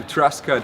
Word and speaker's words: Truscott: mvdb from the natural Warrior tribe with thrustcut here I do pronounce that right dude you got it cool